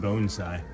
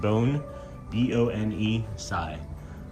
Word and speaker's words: bonsai: What's also interesting is that it's pronounced bonesai. It doesn't say it on the back here, but I've been pronouncing bonsai wrong my entire life. It says in the instructions phonetically that it's pronounced bone bi.